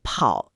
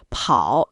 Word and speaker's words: 跑: 仿口型，比如跑要把声调降下来，跳最后